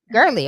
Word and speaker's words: Gerly: Gerly.